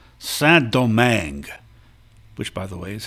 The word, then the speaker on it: Saint-Domingue: The French colony was called Saint-Domingue, which, by the way, is how you pronounce it, Domingue. In French, you nasalize an I if it comes before an M or an N.